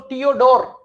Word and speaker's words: Theodor: Then Theodore, again H in the middle is silent, so Theodore.